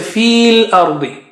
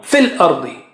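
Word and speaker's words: فِي الْأَرْضِ: So no sign, no sound. Fil ardi. Da is very thick and high. Fil ardi. Ra is also thick.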